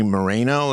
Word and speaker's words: Moreno: for shered brown it's who's this guy Bernie Moreno is that how you pronoun pronounce his last name uh yeah he is